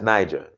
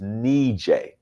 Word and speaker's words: Niger: DJ DJ it's not it's not that is Niger it's neat eh that's a say Niger his knee J Bhabha pronouncing it wrong this whole time it's an